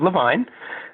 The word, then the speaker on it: Levine: My name is Levine, rhymes with fine wine.